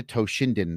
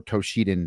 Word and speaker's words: Toshinden: Uh, I saw Battle Arena Toshinden or Toshiden, depending on how you want to pronounce it, at a demo unit